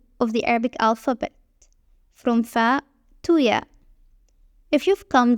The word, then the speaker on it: ف: It is pronounced like the English F sound in fun.